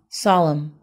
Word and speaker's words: solemn: delighted everyone next one solemn the word stress is on the first syllable this word means for